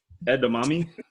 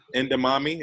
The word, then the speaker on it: edamame: I can't pronounce that one myself. Edamame? Endamami, is that what you pronounce?